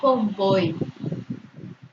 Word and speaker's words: convoy: Y la palabra convoy es una palabra aguda, pero no lleva acentuación.